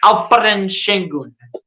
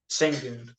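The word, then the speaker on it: Şengün: this season man and they pronounce his Al shun it's not sing singon turkey that's where he's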